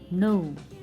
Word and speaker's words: know: know everybody knows so k is silent here so that's why we will say no k is for